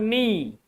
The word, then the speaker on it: knee: K is silent like there are some other word knee. In knee K is before N.